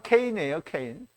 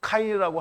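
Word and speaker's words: Cain: 자, 이제 걔는 가인이라는 말은 이제 이게 발음대로 하면 케인이에요, 케인. 그래서 이제 영어로는 또 카인이라고 하고 또 발음을 할 때 카인의 후예 뭐 이렇게 얘기를 하잖아요.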